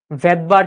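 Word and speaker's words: Svedberg: ভদবার unit. কি ভাইয়া? ভদবার unit. নাম বলেছিলাম মনে আছে? প্রথম ক্লাসে বলেছিলাম এই ভদ্রলোকের নাম ছিল ভেদবার বুঝছো এসটা এখানে সাইলেন্ট থাকে ক্লিয়ার আচ্ছা তাহলে ভৌত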